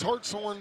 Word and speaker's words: Hartshorn: Well, if Garrett Fertig says it's Hartshorn, then it's Hartshorn. So I've been saying it wrong for the last few days.